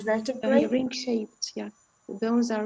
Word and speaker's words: vertebrae: Vertebra, one vertebra. And a number of vertebrae or vertebrae. It can be re or re here.